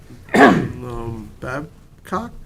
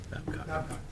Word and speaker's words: Babcock: Wait, Wayne Bruin is next, followed by Luke Babcock, or no, I'm saying the last name wrong. What is it? Babcock. Oh, Babcock, okay.